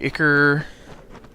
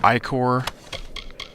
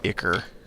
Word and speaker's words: ichor: Spider sack, Ichor, or Ichor. I've always pronounced it Ichor. Apparently I was incorrect.